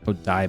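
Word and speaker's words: Odaiba: at the same time after you left for odba OD daa that's how you pronounce that what was that wait you're what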